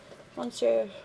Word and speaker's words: Monsieur: Monsieur. In actual French it's pronounced Monsieur, but I am not entirely sure how Lancome pronounces it.